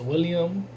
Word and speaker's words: Willem: I like how they were utilized, you know, Willem Dafoe, when I know I heard an interview where he says William. So I don't know, I say Willem because that's how it's spelled.